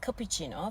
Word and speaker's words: cappuccino: va nia vanila vanila Muhtemelen Türkçe düz a ile söylediğimiz cappuccino frappuccino Açık a ile okunuyor cappuccino frappuccino en sevdiğim çay Latte